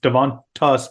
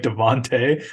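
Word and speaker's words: Davante: has to go against Devonte devontas sorry no it's Devonte it's pronounced okay and uh uh and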